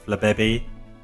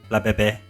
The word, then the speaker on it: Flabébé: Flabébé. Oh, it's set in Europe, isn't it? So I always say it's Flabébé, like a French. Flabébé.